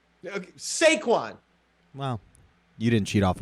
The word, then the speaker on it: Saquon: give me my boy sequan saquon well you didn't cheat off of him in spanish i mean saquon sounds like you know that it's saquon i'm not sure i've